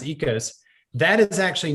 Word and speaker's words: Oikos: that's out there uh it's spelled o i k o s looks like oikos but it's actually ecos pronounced ecos that is actually not